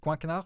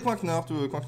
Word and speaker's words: Coinknard: Coinquenard, je prononce. Oui, Coinquenard toujours.